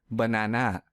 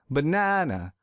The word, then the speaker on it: banana: program here's another example let's say i pronounce this word as banana this is incorrect because i don't stress the second syllable so to fix this i will stress the second syllable real hard banana banana this sounds silly but